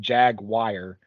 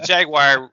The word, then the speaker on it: Jaguar: It sounds like you're saying Jaguar. Oh, I said a little bit too syllables, too distinct. The Jaguar. Yeah. That's a good name. You could JAG and then WIRE.